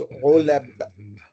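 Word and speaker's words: عُلَب: So it becomes ulab. And this rhymes with fu'al.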